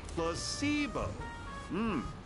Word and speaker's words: placebo: to our vocabulary today repeat after me Placebo the stress is on the middle Sy seeo very good you're figing interest